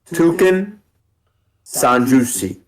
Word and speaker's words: Toukensanjushi: おねさん重視 Spell it out. It's it's Toucan Sanjusi.